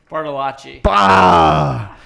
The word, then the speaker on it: Bartolacci: Bartolacci. Wait, how did I write it down? Oh, You wrote it phonetically.